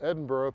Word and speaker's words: Edinburgh: columbia south carolina and if i pronounce it edinboro people don't know what i'm saying talking about i have to say edinburgh but uh i played